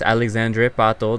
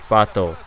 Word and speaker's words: Alexandre Pato: Yes, Alexandre Pato, that's how I say it.